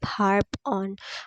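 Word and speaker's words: harp on: इस तरह से याद कर सकते हैं आप हार्प ऑन हार्प ऑन में जो आर है वो थोड़ा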